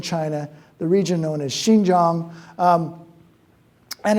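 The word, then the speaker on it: Xinjiang: do you pronounce it thanks to Xi Jinping most people can get that X right now but the Shin Jang won t was something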